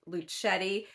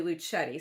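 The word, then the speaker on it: Luchette: that she herself said that her name is pronounced luchetti but that she gets called Lucia and lucette and all these other things and she is not offended but it's actually luchetti so I'm gonna try to uh be uh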